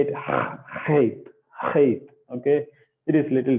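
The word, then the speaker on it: Het: what you will do, you have to spit it out, right? Then you have to spit it out. So similar way, you have to say it, hate, hate.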